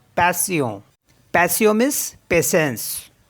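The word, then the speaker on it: patient: सियों example है जैसे पी ए टी आई ई एन टी इसको प्रोनाउंस करते हैं पैसियो पैसियो पैसियो मीस पेशेंस ये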